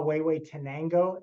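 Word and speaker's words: Huehuetenango: is this is um um that's a Guatemala way way tenango it's that's how it's pronounced it's a really long Indian name it's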